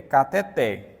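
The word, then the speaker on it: cateter: aqui é o contrário qualquer palavra terminada em R que não tem acento gráfico ela é automaticamente oxítona se eu quiser que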